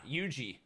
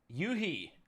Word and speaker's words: Yuji: players from that team so yuhi i uh apparently have been pronouncing it wrong for the last two years me too me too